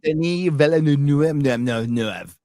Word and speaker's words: Denis Villeneuve: Denis Villeneuve. So he's not wrapping up anything quick. All right. Yeah, it'll be slow. That's the actual proper pronunciation of his name.